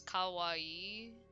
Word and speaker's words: kawaii: okay um so yeah cute is Kawaii with like two eyes but Co is um is scary Kawai yeah I think you're